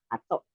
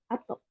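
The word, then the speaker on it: 後: Terus kalau sesudah ini artinya dibacanya ato, ato ya.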